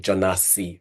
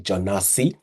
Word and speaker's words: Jonasi: So, my first name is actually Jonasi, pronounced it's basically English equivalent of Jonas with an I at the end. So, it's actually Jonasi.